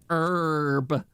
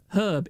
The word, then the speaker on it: herb: herb you pronounce it herb it's not a silent h okay I hate it